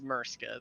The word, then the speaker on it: Murska: what is it again is it mirska is it it is murska though but you spell it